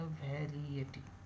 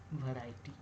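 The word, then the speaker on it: variety: तो यहां पर लिखा वेरिएटिव वेरिएटिव अगर इसको हम लोग वोवेल जैसे जैसे चल रहा है वैसे वैसे प्रोनाउंस करें तो यह वेरिएटिव लेकिन एक्चुअल क्या होता है वैरायटी वैरायटी जब आई ई से पहले आएगा तो आई का सम करेंगे वैरायटी तो ये हो जाएगा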